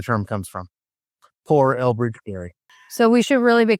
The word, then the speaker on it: Gerry: So, his name was Elbridge Garry. Um pronounced Gary.